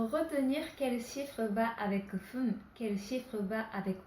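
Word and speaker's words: ふん: Pour dire 2 minutes, 5 minutes, 7 minutes et 9 minutes, on prononcera fun. Donc 2 fun, 5 fun, 7 fun, 9 fun. Et pour tous les autres, on dira pun au lieu de fun.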